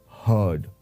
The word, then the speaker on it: heard: So when we pronounce the word heard, the R is very slightly pronounced and it sounds like heard.